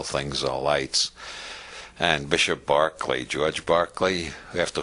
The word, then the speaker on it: Berkeley: all lights and Bishop Berkeley George Berkeley we have to whom the City of Berkeley is named because Americans don't know how to pronounce Irish names it should be Barclay Bishop Berkeley proved the